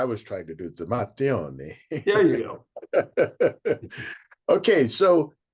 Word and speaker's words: Matteoni: Well, I say it Matteoni, other people say it Matteoni if you're Yeah, from Italy. yeah. That's what I was trying to do. The Matteoni.